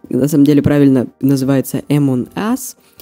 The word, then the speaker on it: Among Us: интересно но я продолжу правильно читается это м он ас и переводится как среди